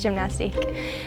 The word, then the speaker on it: Gymnastike: I think I wanted the French spelling, like IQUE.